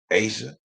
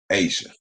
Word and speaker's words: A'ja: can't say it hey y'all can't pronounce a apostrophe j.a asia and then listen to how they react when they find out it's pronounced asia yeah i made it